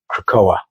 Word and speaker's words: Krakoa: this devastating attack that shattered their nation of Krakoa. Yes, I did pronounce it right, Robert.